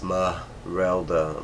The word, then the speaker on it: Esmeralda: the girl's name and it's Esmeralda but she pronounces it as ma rela like all separate um but she does